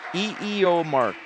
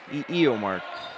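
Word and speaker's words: Illiomarc: And then I did it phonetically, too, and I verified it. So, E-E-O Mark. E-E-O Mark. I'm enunciating too much on the first couple syllables, but again, that's I-L-L-I-O-M-A-R-C, Gachette.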